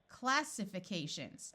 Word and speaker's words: classifications: closer to something so let's switch this long eye to a short eye classifications oh I recognize that